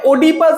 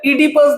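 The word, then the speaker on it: Oedipus: অনেকে ওডিপাস বলে, অনেকে ইডিপাস বলে, এটার অ্যাকচুয়াল প্রোনাউন্সিয়েশন হচ্ছে ইডিপাস দ্য কিং, ঠিক আছে?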